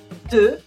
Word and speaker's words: deux: 2 is 2, 2. The X is silent because French is weird.